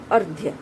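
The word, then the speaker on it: अर्घ्य: इस शब्द का उच्चारण होगा अर्ध्य। अर्ध्य। र का उच्चारण कहाँ हो रहा है? ध से पहले यहाँ उसका उच्चारण हो रहा है। अर्ध्य। र की ध्वनि यहाँ बिल्कुल अ के बाद में आ रही है।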